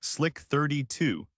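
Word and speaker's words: AN/SLQ-32: This is the realm of the anlq32, pronounced slick 32, the primary electronic warfare suite of the ship.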